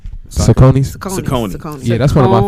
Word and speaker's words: Saucony: They're a very comfortable shoe, but was it Saki? Nick, what is it called? How you pronounce it? Is it Saki or something like that shoe? Saucony. Saucony.